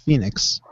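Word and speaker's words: Fénix: Like I downloaded Fenix, I downloaded Mil Muertes. I already had Prince Puma. Phoenix, by the way, it's Phoenix. Phoenix, yeah.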